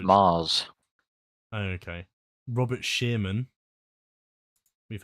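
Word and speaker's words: Magrs: Chimes of midnight was written by pronounced Mars.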